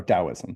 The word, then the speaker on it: Taoism: Uh Christianity, Islam, Hinduism, Buddhism, Bahigh, Sikhism, Taoism uh or Dowoism depending on how you like to pronounce that. I like Tao because it has a T but I think it's more pronounced Dowism.